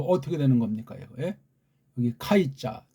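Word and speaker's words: καί: 여기부터 여기까지인데 요 카이자 정확한 발음은 케가 가깝다 그렇게 했죠.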